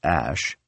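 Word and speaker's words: Æ: said the unknown variable Ash a ligature from Latin and Old English pronounced Ash was my Elven spelling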